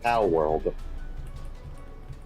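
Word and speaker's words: Palworld: like people were I'm pretty pretty sure it's pronounced po world yeah that's what I said Paul Paul po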